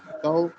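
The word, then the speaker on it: dao: फर्ज करें मैं बोलता हूँ डी ए ओ, ए ओ मैंने आगे फाइनल आपको दिया, डी ए ओ कैसे प्रोनाउंस करेंगे? तो डी ए ओ, ताओ ताओ ताओ ताओ सर के साथ ताओ बनेगा, ताओ मूंछों को ताओ बनेगा, ताओ।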